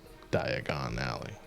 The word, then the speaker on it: Diagon Alley: love it it's funny die gone alley yeah i know but it's it's a play on diagonally so i always pronounce it diagon alley hanging out i'm very